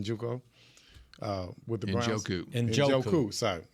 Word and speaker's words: Njoku: just as much as I like ours, is Juco. Is that how you say his name? Njoku? With the Browns? Njoku.